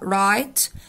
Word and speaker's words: write: الأفعال دي لازم نحفظها كتابة، فنقول listen فيها t silent، look يبص، read يقرأ، write فيها w silent وبتتنطق write يعني يكتب، sleep ينام، sing يغني، play يلعب، eat يأكل، drop litter يعني يرمي قمامة أو زبالة.